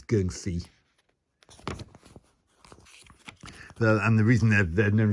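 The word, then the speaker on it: 僵屍: I know it says Jiangxi in the book, but I believe that's the Mandarin Chinese pronunciation of it. In Cantonese, it's geung-si.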